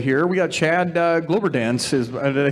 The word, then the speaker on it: Kloberdanz: We got Chad Kloberdanz. Did I say that right? You pronounce it for me. Kloberdanz. Kloberdanz, perfect.